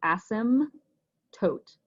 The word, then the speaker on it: asymptote: silent and it goes asim tote so the p is silent it's just all one word you can practice it